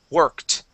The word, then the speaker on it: worked: to worked as well this Ed ending will make a t sound worked worked okay and were